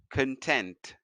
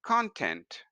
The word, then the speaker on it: content: Content. Example: used to being alone, she was content with her own company. When the same word is used as a noun, you would pronounce this as content.